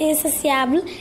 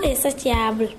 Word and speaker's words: insatiable: comblé c'est bien insatiable même si sécrit t I a b l e il il faut bien prononcer insociable et non insotiable pour les du mot